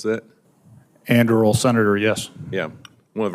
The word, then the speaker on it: Anduril: Is that how you pronounce that? Anduril, Senator, yes.